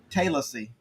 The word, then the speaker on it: Tallassee: uh uh it is t-a-l-l-a-s-s-e-e and they call it Taylor c not Tallassee is Taylor C um now we have